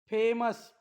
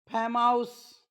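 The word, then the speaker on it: famous: तेव्हा ओ यू एस चा उच्चार स होतो काय होतो स पुन्हा वाचून दाखवतो dangerous फेमस curious enormous generous असं वाचू नका डांगेर हाऊस फॅम हाऊस Curie हाऊस इनर्माऊस general असं नाही आपल्याला जर प्रोनन्सिएशन माहिती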